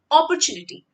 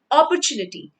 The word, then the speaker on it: opportunity: for the word opportunity it goes the way you say copper copper is a metal so you say opel opportunity say it with me and get this correct opportunity so that your mind